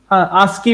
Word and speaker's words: ASCII: क्योंकि इन दोनों की आस्की वैल्यूज अलग अलग है, ASCII व्हाट यू से, आस्की बोलते हैं शॉर्ट में, मतलब प्रोनाउंसिएशन में, शॉर्ट में नहीं।